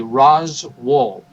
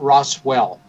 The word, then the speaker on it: Roswell: there when you visit pronounce the name correctly Ros wo not Roswell as we tend to pronounce it rosw um when you visit